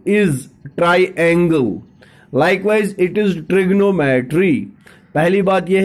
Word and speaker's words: trigonometry: The word ट्रिग्नोमेट्री, you have to pronounce it as a trigonometry, as you pronouncing triangle, otherwise that too is triangle. Likewise it is trigonometry.